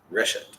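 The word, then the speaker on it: רשת: Reshet. Shaped. Reshet. Remember when you have two segols, what happens? Cigarette. Oh, it's a single word. It's a seglet. The emphasis moves back one syllable from the end.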